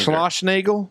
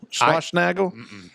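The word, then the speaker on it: Schlossnagle: my Longo I can't say his name either slash Nagle slash Nagle s c h s c h l o s s n a g l e SCH slash Nagle slash slash Nagle it's probably SCH slash Nagle but anyways he was the head coach at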